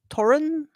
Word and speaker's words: Torunn: uh for I mean most Americans say Toren or some variation of Toren whatever like I don't